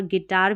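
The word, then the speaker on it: guitar: कुछ स्पेलिंग्स में देखें। जैसे बिल्ड बिल्ड और गिटार में यू आई है।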